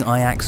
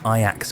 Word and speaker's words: Ajax: But the real highlight of his Ajax career came in 2000 Yo, I would have said Ajax if I did not if I did not know how they don't pronounce the J.